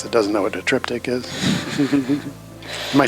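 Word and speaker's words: triptych: anybody watching this that doesn't know what a trip tick is am I saying it right uhhuh yeah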